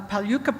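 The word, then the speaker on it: Palyku: She's uh from the uh Paluka people in the Pilbur region of Western Australia. Have I pronounced Paluca Paluka properly? That's Paloo. Palu. Nothing like it spelled looks like.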